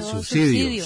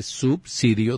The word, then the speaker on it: subsidio: un suicidio de alimentación Ah susidio subsidio no se dice así se dice subsidio de alimentación No no